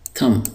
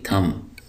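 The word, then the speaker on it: thumb: थम, यहाँ पर जो बी है ये साइलेंट है, इसको हम पढ़ेंगे थम।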